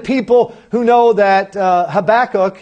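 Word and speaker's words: Habakkuk: who know that uh habac is habac that's how you say it and and we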